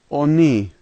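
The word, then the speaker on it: они: The first letter O is pronounced as an O, the second letter H is pronounced as an N, and the last letter E. And so this word is oni, oni.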